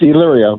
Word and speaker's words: Elyria: I have it as Elyria, but that doesn't sound right. No, it's Elyria, but yeah, no one gets it right.